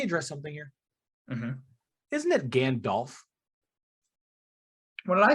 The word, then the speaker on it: Gandalf: also can we address something here isn't it Gandalf what did I say you say again delf is that what I say yeah instead of